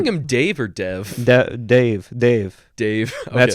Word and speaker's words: Dev: call him dave or dev dave dave dave that's how we say dave and uh then i was wrong too you pronounce it like dave essentially but with like an indian tinge to it so dave we name